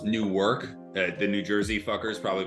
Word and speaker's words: Newark: It's pronounced Newark. The New Jersey fuckers probably pronounce it a different way. It's very similar to New York, but people know the difference in Jersey when you say Newark and New York.